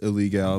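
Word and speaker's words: Ilegal: Well, it is pronounced illegal because it's fucking Spanish. It's only one L. There's fucking only one L. Or it would be illegal.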